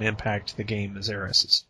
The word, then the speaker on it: Aerith: to the game as Eris's, or Aerith, if you're used to the new Japanese pronunciation of it.